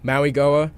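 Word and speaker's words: Mauigoa: into like the initial draft process, uh, Francis Mayuga, is is that how we're is that how you pronounce it? The the the Goa Maui Goa Maui Goa offensive tackle.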